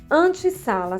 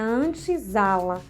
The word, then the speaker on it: antessala: Então, se eu não dobrar essa consoante, tipo antessala, se eu juntar, tirar o hífen e deixar somente um S, ficaria antesala. Mas a pronúncia não foi mudada nesse novo acordo ortográfico. Então, para que não mudasse a pronúncia, dobra-se então o R ou S, então ficará antessala, como antigamente. Então, tira o hífen, porque